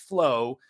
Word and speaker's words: FLOA: So FLOA is pronounced flow, stands for fasting like our ancestors.